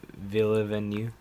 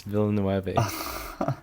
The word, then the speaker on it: Villeneuve: I think for director, I would I honestly I think I would choose Denis Villeneuve. How do you pronounce his name?